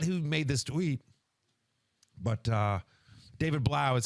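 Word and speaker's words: David Blough: I forget who made this tweet, but David Blau is how you pronounce it.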